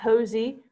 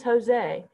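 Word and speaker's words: José: pronounce people's names so this is not josie this is jose luis embanada in enunciate learn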